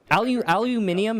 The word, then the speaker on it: aluminium: Aluminium, I think, is technically correct, but for some reason... it's British, yeah. Yeah, it's if you read it out, it's like reading the letters. That's the technical pronunciation. Yeah. It makes sense. But everyone just says aluminum.